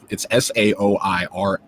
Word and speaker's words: Saoirse: It's Saoirse. Like I'm taken to just calling her Sasori in my head. Like from Naruto, I just can't.